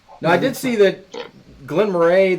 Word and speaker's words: Glen Moray: Well, the Scottish, the Scots do pronounce it Glen Moray, like Murray.